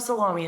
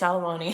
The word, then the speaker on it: Salomone: It's not Salomi, it's Salomoney.